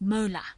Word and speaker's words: molar: And a mole per decimeter cubed is more briefly written as m, just plain capital M, which is pronounced molar.